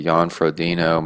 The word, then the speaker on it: Jan Frodeno: Jan Frodeno.